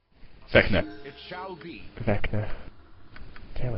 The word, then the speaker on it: Vecna: It would be nice to do a playthrough the entire game because you'd get to keep things like the robe of Venka. Vecna.